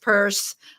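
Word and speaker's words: Peirce: Pierce page on Facebook, and Pierce is spelled P-E-I-R-C-E. It's pronounced purse.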